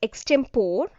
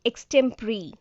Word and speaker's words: extempore: It shouldn't be pronounced as extempore. It has to be pronounced as extempore, pre.